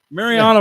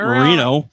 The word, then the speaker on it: Mariano: go ahead Marino Rivera Mariano Rivera not Marino you can't say his